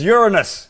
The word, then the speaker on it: Uranus: Uranus but of course if you want to pronounce it correctly it's Uranus we should all know that eh you pronounce it Uranus which some say is not much better than Uranus but it is what it